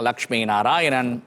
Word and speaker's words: Lakshmi Narayanan: it or i can say it's become a lakshmi narayanan but when it comes to western part of